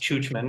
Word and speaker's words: Czuczman: And since I've been in Czech, I don't think it's been pronounced churchman once. It's been pronounced Czuczman, and they even call me.